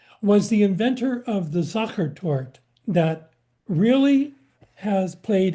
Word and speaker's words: Sacher: always chasing me around trying to get me to pronounce Sacher as opposed to soccer. Come on, we would just say soccer tort. And they go, what are you playing ball? You kicking the ball around? It's Sacher.